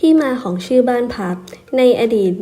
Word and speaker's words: พับ: ตาม ต้น พลับ ซึ่ง ทาง อีสาน มัก จะ ออก เสียง สั้น ๆ ว่า พับ และ หลาย ปี ต่อ มา